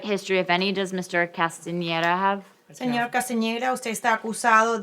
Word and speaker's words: Castaneda: Castaneda how do you say your last name como a pronounced upstairs robbery though Castaneda mr.